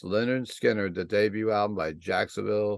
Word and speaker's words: Lynyrd Skynyrd: second album we're going to discuss tonight is pronounced Leonard Skinner the debut album by Jacksonville Florida's Leonard Skynyrd